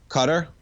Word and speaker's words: Qatar: one on your radar cutter thank you perfect there we go nice little phonetic cutter perfect no wonder I